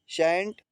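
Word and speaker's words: scent: अगला देख लीजिए सेंट इसमें सी का उच्चारण नहीं हुआ है।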